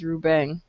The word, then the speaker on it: Ruben: Yeah, because all I hear is Rubeng. Yes, that is correct. The correct pronunciation.